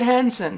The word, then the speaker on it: Hansen: He pronounces it Hansen.